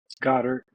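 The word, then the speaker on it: Goedert: yes uh and then uh Dallas godart um Godard Godard yes um those those were the two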